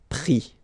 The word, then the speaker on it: pris: And then prendre, so e-n-d-r-e, will give es, pris, okay. Same thing here, you don't pronounce the final s, okay.